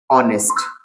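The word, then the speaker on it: honest: शुरुआत एच से बाद में ओ क्या पढ़ेंगे ऑनेस्ट सॉरी ऑनर ठीक उसके बाद शुरुआत एच से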